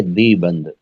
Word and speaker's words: دیوبند: اس کا صحیح جو تلفظ ہے وہ تو ہے دی بند، یعنی واو جو ہے اس کے اندر وہ سائلنٹ ہے، پڑھا نہیں جاتا ہے، دی بند ہے، صحیح تلفظ یہی ہے. لیکن چونکہ واو لکھا ہوتا ہے تو جس طرح عمرو بن عاص کو لوگ امرو یا عمرو پڑھتے ہیں، واو کو پڑھنا شروع کر دیا اردو زبان میں،